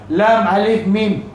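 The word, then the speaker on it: لام: Lam ni dia ada huruf mad. Sebab ejaan lam ni ialah lam alif mim. Lam alif. Alif tu huruf mad. Jadi setiap huruf yang dieja dengan huruf mad panjangnya 6 harakat.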